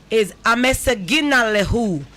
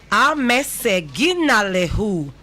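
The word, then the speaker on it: አመሰግናለሁ: The beautiful thing about this language is that it's syllabic. You can pronounce it and you can break it down. So if I didn't even spell it for you, by the way I pronounce it, you can spell it.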